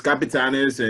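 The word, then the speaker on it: Capitanes: mexico and um they're calling it the capitans i i hope that's how you pronounce it well it's uh yes it's capitanis and the team already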